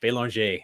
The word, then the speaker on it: Belanger: because i failed french my last name is french bailonge if you wanted to pronounce it like you know canada or france and i failed because